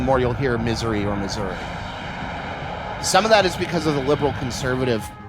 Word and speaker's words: Missouri: I mean, it's very funny to me because people get really weird about how you pronounce Missouri depending on which part of the state you're in. The further rural you go, the more you'll get Missouri.